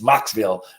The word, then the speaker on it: Mocksville: I almost say it wrong every time it's Mocksville North Carolina and uh we have Farmland across